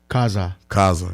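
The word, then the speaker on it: Khaza: Am I pronouncing it correctly? Kaza.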